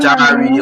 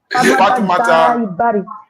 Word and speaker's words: Fatoumata Jarai Bari: Okay, don't go to that Jari or Jalarao. It is my name. It is my name. With respect and dignity, you have to pronounce it as it is.